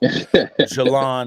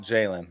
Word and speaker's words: Jelon: Jelon, not Jalen.